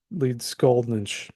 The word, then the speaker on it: Leedskalnin: of meanie and Andreas Leed scalin a word meeting from the mountains the lead skull nches the laian words usually place the accent on the first syllable and the NS ending